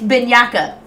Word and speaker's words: Bianca: Pronounce the name correctly. It's Bianca.